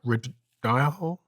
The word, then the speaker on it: Rhodiola: I found a supplement called I can't pronounce the name properly, but rhodiola?